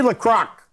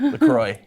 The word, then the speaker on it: La Croix: Jeremy La Crock. Did I say it right? La Croc. How do you say it? La Croix. La Croix. It's not even It's La Croix.